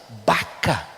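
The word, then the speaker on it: בכא: geográfico muito seco mas a pronúncia bacca em hebraico lembra a palavra choro por isso que algumas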